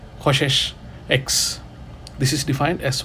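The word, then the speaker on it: csch: defined we Define a hyperbolic cosecant function which is spelled as CS c h x KES X this is defined as 1 / sin x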